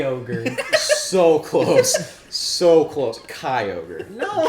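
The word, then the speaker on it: Kyogre: Well- In fact, I'd say rhymes with fly ogre. Fly. Fly over. No. They're not gonna get it. It's so No, random. It's, it's Shy ogre. so close. So close. Kai ogre.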